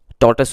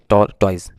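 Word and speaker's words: tortoise: टॉर्टस उसको पढ़ेंगे, ना कि टॉयज। इसका करेक्ट प्रोनाउंसिएशन है टॉर्टस।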